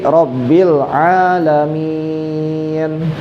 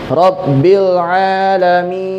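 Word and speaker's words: رب العالمين: Cara bacanya adalah dipanjangkan boleh dua, boleh empat, boleh panjang enam harakat. Jadi boleh dibaca panjang dua, boleh empat, boleh enam harakat. Jadi bacanya gimana? Rabbil alamin.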